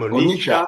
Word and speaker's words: Onitsha: Onitsha.